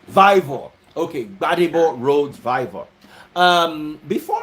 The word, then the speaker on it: Vivour: How do you pronounce that? Vivour. Vivour.